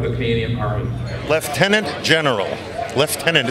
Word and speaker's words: lieutenant: Lieutenant, it's still the British. That's right. But it's spelled lieutenant? It's spelled lieutenant, but it is lieutenant. It's a British Commonwealth tradition, and we're very proud of that.